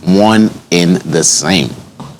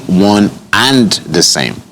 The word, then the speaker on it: one and the same: next one here says one in the same so it's actually one and the same not one in the same when you really sit